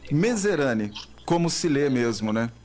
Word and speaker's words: Mezerani: Nadir, eu não gostaria de errar a pronúncia do teu nome. É Medzerani mesmo? É, Medzerani. Medzerani, como se lê mesmo, né?